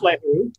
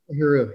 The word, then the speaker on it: Lahiru: How do you pronounce her last name? I think it's Lahiru, yeah. Lahiru, yeah.